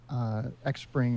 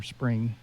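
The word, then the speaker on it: Xpring: last talked there that X Pring or spring as is supposedly pronounced has done is they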